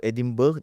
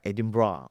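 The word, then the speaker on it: Edinburgh: Kalau pronunciationnya kalau orang yang study ataupun orang lokal yang akan sebut Edin Bra. Edin Bra. Walaupun spellingnya tu macam Edinburg kan.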